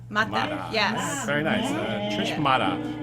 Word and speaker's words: Mata: pronounced Mata. Mata.